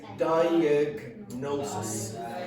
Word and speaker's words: diagnosis: you pronounce that yes diagnosis so you must pronounce the G and then the N separately okay all right I'm